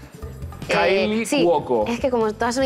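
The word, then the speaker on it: Kaley Cuoco: No, Cali Coco, la del Calipo. ¿Pero es una persona real o río quinoa? No, es real, lo que pasa es que lo pronuncié muy mal porque... Kylie Cuoco.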